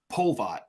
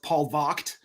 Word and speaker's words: Polvogt: Polvogt. Polvogt. Okay. Yeah, it's technically supposed to be pronounced Polvogt, but that's a little too on the nose for me. So I just stick with the American Polvogt.